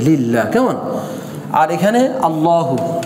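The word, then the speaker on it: اللّٰهُ: কেমন, আর এখানে আল্লাহু, তো কি হবে, উচ্চারণটা হবে আল্লাহু।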